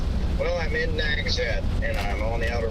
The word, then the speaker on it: Nags Head: Nags Head.